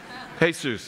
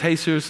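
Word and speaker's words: Jesús: somebody I you know they would say his name is hey Seuss and I'm like great and then I would see it written and I'm like mom that's his Jesus anybody ever experienced that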